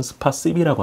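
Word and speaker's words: спасибі: 아마 볼로디미르 젤렌스키 대통령은 스파시비, 러시아 말로는 감사하다가 스파시바인데 우크라이나 발음으로는 스파시비라고 한답니다.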